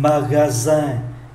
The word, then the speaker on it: magasin: Un magasin, ký tự S phát âm là Z bởi vì đứng giữa hai nguyên âm.